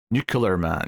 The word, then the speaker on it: Nuclear Man: Nuclear Man. You have to say it properly, like Hackman.